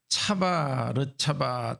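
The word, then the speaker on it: צַו לָצָו: 그리고 10절에 경계에 경계를 다하며 교훈에 교훈을 다하며 그렇게 말이 나오는데 그 말은 원래 성경에 쓰여진 히브리 말 발음으로 하면 이렇습니다. 차바 르차바 차바 르차바 카바 르카바 카바 르카바.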